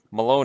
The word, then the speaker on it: Malone: have my hand up Malone a native of Ontario rhymes with baloney says fox tracks definitely